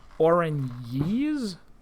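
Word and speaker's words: Oranje: some orange ginny oranges actually it's not a it's one of the one of the tool tips said it's pronounced orangey's i guess saying some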